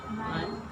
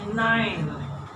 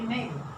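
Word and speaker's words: nein: And I don't want to hear name, yeah? Because you have the tendency from English to say name. So I am now stressing it. This combination of letters is a I.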